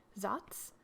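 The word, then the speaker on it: Saaz: hops holler tau tetaning zotz which is spelled s a a z and spalt i've seen a lot of the helleses in the us using holler tau for this beer and occasionally zots helluses have a medium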